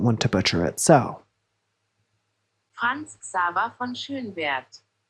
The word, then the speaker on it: Franz Xaver von Schönwerth: So, Franz Xaver von Schönwerth. Franz Xaver von Schönwerth.